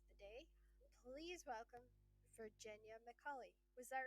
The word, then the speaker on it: McCullough: Please welcome Virginia McCullough. Was that right? Did I get it that time? McCullough. It's McCullough. Sorry. OUGH on the end. McCullough.